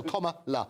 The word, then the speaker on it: Kamala: a fortune 2016 comma comma as in the punctuation and La at the end so comma La so in other words